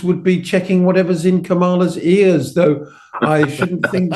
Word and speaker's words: Kamala: assassination attempt and that sort of stuff to Kamala, and that's how you pronounce her name, with her earpiece.